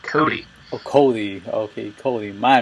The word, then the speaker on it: Cote: I'm Christian Ocampo, and today I'm being joined by Cote. How are you doing, sir? I'm doing well. It's actually pronounced Cody.